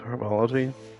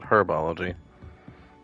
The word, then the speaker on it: herbology: on to, I guess, herbology. I don't know why the British pronounce it herbology. And we Americans, the H is silent, it's herb, and herbology.